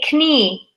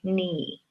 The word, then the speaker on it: knee: leg that bends army we don't say can me we say knee me or at least I